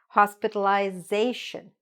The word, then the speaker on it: hospitalization: So, hospitalization.